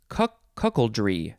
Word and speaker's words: cuckoldry: Cuckoldry.